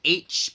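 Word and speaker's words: Aech: There's this character named H, but it's spelled like A-E-C-H or some shit.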